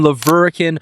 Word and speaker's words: La Verkin: I'm out here in Leverkin, Utah, which is right in the middle of Hurricane and Toerville. And I know it kind of sounds funny, but that's how they pronounce it out here.